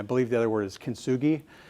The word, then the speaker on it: kintsugi: So this is called, this is one name which I have a hard time pronouncing. I believe the other word is kintsugi.